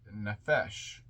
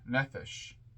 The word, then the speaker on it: nefesh: Now, the next part of the tree is what is known as the nefesh or nephesh, or I've heard it pronounced another way before, nipish.